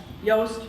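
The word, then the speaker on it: Yoast: if you have WordPress yast rhymes with toast but SP with a Y the have fields for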